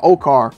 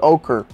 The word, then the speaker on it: ochre: been saying it wrong okar okar okar how let me see let's just see cuz I've been saying it wrong I need to hear it you want to stress on the first syllable in American English it